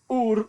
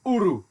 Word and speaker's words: Ur: Linguistically, it should be pronounced in Akkadian, which is the language that they spoke there. Now, hang on for this, my Akkadian's terrible. As Ur or Uru.